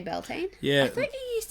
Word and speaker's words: Beltane: one or that one so how would you pronounce that Belton you would just say Beltane yeah I think you